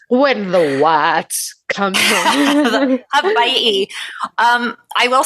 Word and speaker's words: Hawaii: I am talking about Hawaii. Or you can say it like how they do on the news stations. Hawaii.